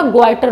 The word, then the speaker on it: goitre: Okay, आयोडीनाइज salt खाएं, जिससे कि आपको घेंगा ग्वाइटर रोग नहीं होगा। वो घेंगा रोग बच्चों किसकी वजह से होता है, इसी थायरॉक्सिन हार्मोन की कमी की वजह से होता है ग्वाइटर रोग।